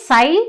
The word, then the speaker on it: psi: That means psi stands for PSI. So we can pronounce it as psi.